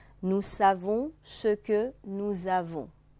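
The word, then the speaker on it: nous avons: 。Nous avons 啊，这个连诵以后，原来的 s 不发音的 s 发成 z 音，而这两个词组合在一起，读成 Nous savons，我们知道啊，一个清音，一个浊音。Nous savons 是我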